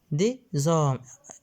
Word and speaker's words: hommes: لاحظوا أن اش حرف لا ينطق. اش ده لتر مي. دي زوم اس هنا تقرأ مع او.